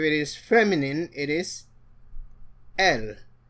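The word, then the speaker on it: elles: If it is feminine it is l. The s is silent.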